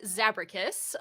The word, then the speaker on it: Zabracus: So it's pronounced Zabracus, but you can just call me Zab.